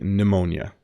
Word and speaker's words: pneumonia: the p is silent you don't pronounce the P at the beginning it's simply pneumonia um I had pneumonia